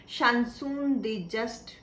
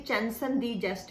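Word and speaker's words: chanson de geste: Actually आप यहाँ पे स्पेलिंग्स में इसको पढ़ेंगे चार्लेमैग्ने, और शानसून जिसे मैं बोल रही हूँ एक्चुअली चैंसन दी जस्ट है।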